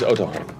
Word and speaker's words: Otohan: This is Otohan. Otohan?